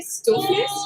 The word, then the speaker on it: stoofvlees: Like, if you're an American tourist, you wanted to taste something particularly Belgian food-wise, We would say stoofvlees.